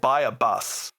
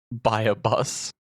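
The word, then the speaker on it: Buyabos: Um I'm I'm umming because it's definitely not spelled like how I'm going to pronounce it. But my brain calls it is called Buyabus. Buyabus?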